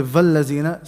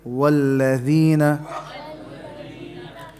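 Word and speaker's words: وَالَّذِينَ: So don't say vallazina. Say walladhina.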